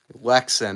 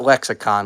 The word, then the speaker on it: Lexan: Lexan, not lexicon, Lexan. It's spelled Lexan.